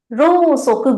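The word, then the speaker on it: 蝋燭: Ro-soku will be candle. Right? Ro-soku. Ro-soku. So you will pronounce it with O, but actual spelling will be U.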